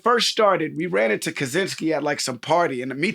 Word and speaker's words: Krasinski: I just remember, I remember when it first started, we ran into Krasinski at some party, and me thinking, there's Krasinski. no way. You always mess up John's name. Krasinski. You missed the R.